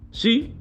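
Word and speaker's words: PSY: penyanyi Korea Selatan yang bernama si bacanya PSI ya si merilis lagu judul geng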